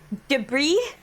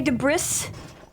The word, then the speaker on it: debris: Debris. What do you want me to say? Debris. Do you do I need to say de Brris? The S is silent.